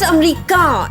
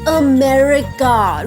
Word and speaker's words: America: It's not America. It is America. Roll your R's, okay?